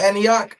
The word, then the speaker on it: Antioch: That's how you say it, Antioch.